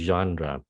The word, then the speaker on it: genre: Chữ này là gốc Pháp, nó nhập vô tiếng Anh, cho nên người bản xứ tiếng Anh nó giữ cái cách viết của chữ Pháp. Phát âm nó là gì nào? Genre. Okay, yes, nhìn không có giống chữ genre, mà thực sự nó phát là genre nha.